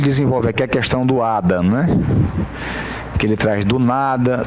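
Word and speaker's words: hada: Eu estou dando esse exemplo aqui do Ada, que H-A-D-A, em espanhol, que é fada, uma fada madrinha, né? Né? E se pronuncia Ada do mesmo jeito.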